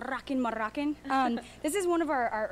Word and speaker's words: Rockin' Moroccan: You got to roll your R's though. Rockin' Moroccan.